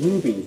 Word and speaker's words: rupee: Yeah, I hate when people pronounce them rupees. They're not rupees, they pronounce rupees. There's no B in there.